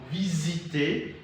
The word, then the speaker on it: visiter: For instance, we have in the other side, visiter. So S here is pronounced as Z.